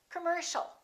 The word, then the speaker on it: commercial: it's come come commercial don't say commercial or commercial it's all commercial all right let's practice